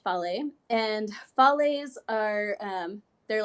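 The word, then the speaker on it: fale: you called this yeah these are called Follies it's about FA le and pronounced folly and Follies are they're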